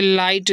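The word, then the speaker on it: light: रहेगा टी सेटा टाइट जैसे लाइट देखिए ए आई जी एच टी एल आई से क्या होगा लाई जी एच नहीं पढ़ेंगे टी सेटा लाइट इस तरह से ब्रॉड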